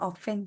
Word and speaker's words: often: ideas exactly an often มัน อ่าน ว่า often ใช่ ไหมม คะ ใช่ often ไม่ ออก ตัว T often often and often